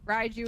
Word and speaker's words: Raiju: Slower, and then Raiju is electric type, but I'm just gonna remember it by being like Raichu.